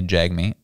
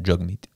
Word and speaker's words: Jagmeet: So we usually say jag meat. Yeah. It's pronounced jug meat.